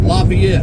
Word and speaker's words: Lafayette: There's a million ways to pronounce it. Everybody pronounces it their own way. I call it Lafayette.